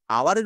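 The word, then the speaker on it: hour: কিন্তু দেখো এইখানে এইচ আছে, এইচ দিয়ে শুরু, কিন্তু তাও এন বসেছে কেন, কারণ এই আওয়ারের উচ্চারণ আমরা আওয়ার বলছি, ও এর মতন, এই ও এর মতন উচ্চারণ হচ্ছে, সেই জন্য এই জায়গাটা এন বসেছে।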